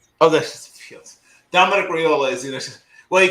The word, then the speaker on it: Raiola: I know you'll pronounce his name right. Raiola. Raiola.